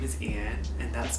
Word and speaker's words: Yên: Most importantly, well, not most importantly, my name is Yên, and that's spelled Y-E-N. It is Vietnamese, and in Vietnamese, the Y is pronounced like E.